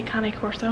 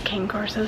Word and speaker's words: Cane Corso: I like to say Cane Corso, that's how they say it in Italy, but apparently the American way is Cane Corso, so it's the same thing.